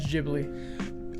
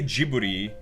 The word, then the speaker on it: Ghibli: pronounce it because okay it's both ways in Japanese they say I knew it I knew in Japanese it was going to be one way in Japanese they say jiburi but it's based on